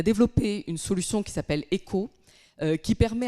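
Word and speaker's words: ECOOH: On a développé une solution qui s'appelle ECO, qui permet à des tout petits acteurs, alors ECO ça s'écrit E-C-O-O-H comme out of home, et cette solution est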